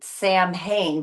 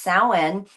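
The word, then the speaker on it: Samhain: It's actually spelled S A M H A I N. Sam Hayne, but it's pronounced sen.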